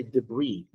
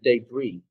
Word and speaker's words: debris: As for debris, it has so many pronunciations. You can say debris, or you can say day, like day, and debris.